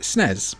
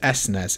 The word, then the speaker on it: SNES: do you pronounce SNES I actually pronounce it snez most times because I am lazy and it's less syllables but I also want